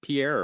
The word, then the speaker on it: Pierre: is it is it Pierre or is Pierre right I saying it right people from South Dakota people from South Dakota pronounce it Pier but I'm sure it